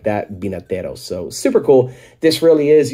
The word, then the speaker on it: Vinateros: so they called themselves binateros or Spanish for winemaker so the v in Spanish is pronounced like a b so it's not Vena teros I mean if you say vinataros it's fine uh but